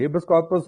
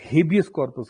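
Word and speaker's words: habeas corpus: India में 5 type की Ritz होती है: हेबस कॉर्पस, मडामस, सर्क्यूलरी, प्रोहिबिशन, कोवरेंटो. हम हेबस कॉर्पस कहते हैं, लायर्स हेबियस कॉर्पस कहते हैं.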